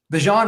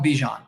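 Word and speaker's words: Bijan: they'll be like oh my name's actually pronounced like this after like so many times and because it gets people talking about him like Bjan Robinson. I remember everyone called him Bjon and then in the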